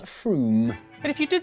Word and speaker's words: Frome: Wrong, it's not Frome. Frome, it should be blitheringly obvious, is pronounced Froome.